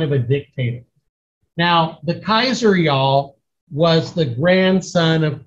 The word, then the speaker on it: Caesar: a family feud now his title was the Kaiser and if you know your Latin in Latin y'all they don't say Caesar it's like Kaiser okay and that's where that